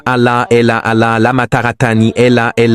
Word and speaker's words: Allah: Vous pouvez l'écrire A-L-A-H-L-A, mais ne dites pas L-A, dites Allah. Essayez, dites Allah. Ne dites pas L-A, ce n'est pas L-A, c'est Allah.